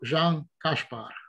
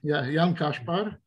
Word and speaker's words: Jan Kaspar: Nós temos a honra e o prazer de ter o Jean Kaspar. This is how you pronounce, right? Kash with sh. Yeah, this is correct, but then the first name is Jan. Jan Kaspar.